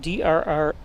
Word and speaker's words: Drees: Now his last name is spelled D-R-E-E-S, but like Drew Brees isn't that B-R-E-E-S as well? So this should be Parker Drees.